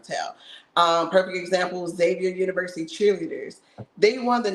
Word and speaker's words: Xavier: the people from Xavier I said their name wrong in the video I said Exavier because I was thinking of the name but is Xavier I know it now